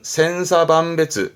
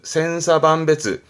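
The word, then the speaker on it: 千差万別: 발음은 센사반베츠, 센사반베츠.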